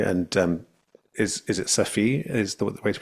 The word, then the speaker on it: Omid Safi: background on you and um is is it Safi is the the way to pronounce the both of the eyes are long vowels uh so it's Omid Safi Omi right I heard you say on your